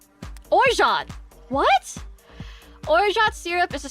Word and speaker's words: Orgeat: Pronunciation. Orgeat!